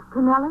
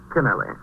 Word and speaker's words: Kennelly: Oh, how do you pronounce it? Canelli or Kennelly? Kennelly.